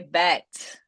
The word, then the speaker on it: bet: La T al final de bet. Also, cuando tenemos consonantes que terminan las palabras, énfasis siempre.